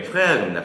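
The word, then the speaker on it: Frère: 프랑스어 발음이 아주 멋지십니다. 아, 네. 다들 뭐라 불러요? 이거 그로페레레라고 그로페레레. 그러죠? 네, 프레어입니다.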